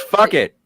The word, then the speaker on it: Phuket: When they went to film in near Phuket for the It's pronounced fuck it.